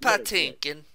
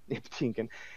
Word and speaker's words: Patinkin: Pronounced Patinkin. Patinkin.